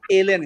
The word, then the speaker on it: ln: Sine x plus four এল এন এক্স। আচ্ছা এটাকে আমরা লন বলি, বাট এটা যদি ম্যাথমেটিক্যালি যদি কারেক্ট প্রোনাউন্সিয়েশনটা বলি এটাকে এল এন উচ্চারণ করতে হবে, এল এন এক্স।